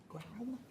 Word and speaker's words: Graum: Thank you, Ms. Graham. I think I got your name wrong initially. And then Graum? It's Graum, okay.